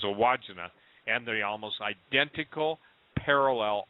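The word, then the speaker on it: Wandjina: or something I used to call him the wajinga but it's a wajina and the almost identical parallel are in Utah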